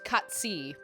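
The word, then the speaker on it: Cait Sith: I mean, it's Kate Sith, but it's pronounced Cutsy, from what I understand.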